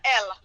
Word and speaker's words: Elle: representatives are your branded just remember the letter l you can't say e l but it's spelled e-l-l-e because they have to